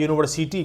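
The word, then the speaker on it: university: लेकिन यहां जो उच्चारण हो रहा है यूनिवर्सिटी का इसको हम जैसे अगर यू से शुरू हो रहा है जैसे अंब्रेला तो हम लोग हम लोग लगाते हैं वहां पर एन लगाते हैं इट इज an umbrella you का उच्चारण ओ की तरह हो रहा है लेकिन इसका उच्चारण हो रहा है यू की तरह तो जहां पर यू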